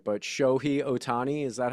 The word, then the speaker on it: Ohtani: going to say his name right, but Shohei Otani, is that how you say Shohei it? Ohtani, yeah, So he hit his first baseball home run.